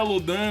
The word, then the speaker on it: Lodin: Inclusive, como que foi a diferença de ver que em japonês era Lodan, mas por aqui a gente tá falando Lodin, e ainda tem como que era a pronúncia em inglês.